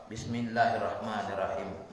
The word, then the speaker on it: Bismillahirrahmanirrahim: Bis itu dengan sin. Sinnya itu bahasa Minang balasia gitu. Bis, bis, jangan bis, jangan bis, gitu kan. Kemudian Bismillahirrahman, rahnya itu ha.